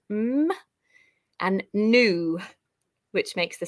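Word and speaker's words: nu: letter and it makes the sound um and new which makes the sound so very similar to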